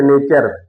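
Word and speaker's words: nature: के बाद यू आर ई आवे, तो उसका उच्चारण क्या होता है। जैसे नेचर, यानी टी यू आर ई, नेचर।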